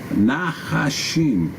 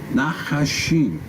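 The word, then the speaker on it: נחש: Now, in the Hebrew, this word for serpents is nachashim. Nachashim. And it's, interestingly enough, it's spelled nun, het, shin, and then, of course, yod, mem, safit for the plural.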